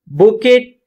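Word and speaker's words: bouquet: में carrying a cassette बुकेट of flowers इसको बकेट pronounce करते हैं ठीक है ई का साउंड यहां पर आता है यह दस्ते को बोलते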